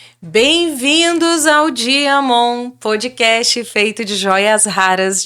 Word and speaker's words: Diamant: Se você gosta desse tipo de conteúdo, acessa o nosso canal no YouTube @gazetadopará GCash Diamon. Se escreve Diamant com T mudo no final no Instagram @gcashcortes.